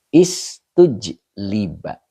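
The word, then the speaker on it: اُسْتُجْلِبَ: Nah, jadi wala istujliba, bacanya begitu. Ini majhul namanya. Majhul untuk majid 3. Jadi domah awalnya, yang di domah itu taknya ya. Jadi istujliba.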